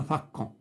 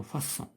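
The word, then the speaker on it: façon: ما غنقولوش هنا فاكون غنقولو فاسون.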